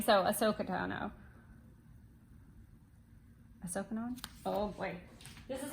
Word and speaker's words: Ahsoka Tano: Ahsoka Tano. I always say it wrong. Ahsoka. Oh, that's a fun one to say. Let me see. Let's see what Google Air says. Ahsoka Tano.